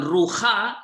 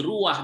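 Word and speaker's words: רוּחַ: itu adalah Hey atau maka bacanya lain ruwah bukan ruha tapi ruah ditarik ditarik hanya dulu baru hurufnya ruah tappua luas ya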